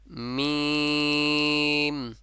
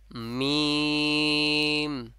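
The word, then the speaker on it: ميم: বের হবে ঠিক আছে মিম মিম ঠিক আছে তিন আলিফ চার আলিফ অথবা তিন আলিফ পরিমাণ টানতে হবে এখন মিমটা বলবেন দুই ঠোঁটে লেগে আবার উঠে যাবে আবার এসে আবার মিলিত হবে ঠিক আছে একেবারে বলা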